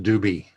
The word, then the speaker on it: Dube: And I talked to Frank on BGA earlier in the week, and it's pronounced Doobie.